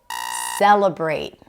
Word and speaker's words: celebrate: Celebrate. First syllable. Celebrate. Not celebrate or celebrate.